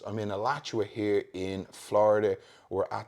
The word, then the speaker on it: Alachua: There's my pronunciations. I'm in Alachua here in Florida.